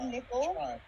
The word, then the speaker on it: Nicole: My name is Nickel. Nickel. And Yes, but spelled like Nicole.